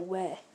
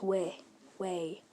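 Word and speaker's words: 왜: It's not we. It's way. W-A-E, kind of pronounced like that.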